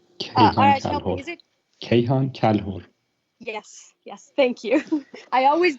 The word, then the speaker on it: Kayhan Kalhor: Is it Kayhan Kalhor? Yes, thank you. I always get the last name wrong.